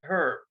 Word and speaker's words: herb: Being from Europe, I like to call it as it is and pronounce it with every letter of the alphabet what's in it. So I call it a herb.